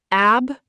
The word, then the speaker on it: abrogate: Abrogate, pronounced ab-ra-gate.